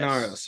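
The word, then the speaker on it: Minauros: Minaros.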